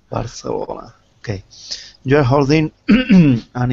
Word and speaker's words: Barcelona: No. You have to say it like we do. Barcelona. Barcelona.